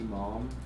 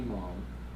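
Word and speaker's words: Maum: but it's by Courtney Malm. I think like, it's not the way Somerset Maugham's last name is spelled, maybe M-A-U-M, but Courtney Malm.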